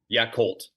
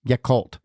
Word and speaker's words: Yakult: do you say it the Tokyo yit swallows yakult yakult swallows yes the Tokyo yakult swallows and so